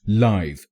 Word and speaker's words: live: This word is pronounced live when used as an adjective in a sentence.